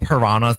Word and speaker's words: piranhas: You have to say it like that because that's how they say it in New Zealand because it doesn't rhyme when you say piranhas like bananas.